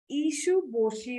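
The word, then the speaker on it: Issun-bōshi: Okay, so the original title of the story is Ishuboshi is what it's pronounced as.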